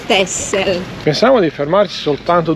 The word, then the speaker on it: Texel: Si scrive Texel, si legge Texel.